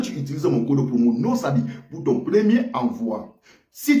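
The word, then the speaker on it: NOSABY: sens et lorsque tu utilises mon code promo nosabi pour ton premier envoi si tu résides en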